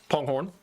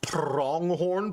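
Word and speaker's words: pronghorn: Ponghorn. I know it's pronounced prongghorn, but I just call him ponghorn.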